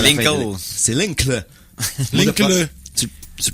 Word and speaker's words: Linkle: C'est Linkle. Linkle. Tu prononces comme tu veux.